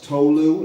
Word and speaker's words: Tolu: All you have to do to pronounce Tolu, it's 2 syllables, is just have an